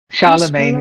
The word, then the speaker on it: Charlemagne: Charlemagne is what we say from the French.